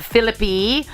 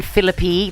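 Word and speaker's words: Phillippe: the thing now uh Rees Witherspoon's son Deacon philippy his dad is Ryan philippy that is how you pronounce it like centipede phip um he has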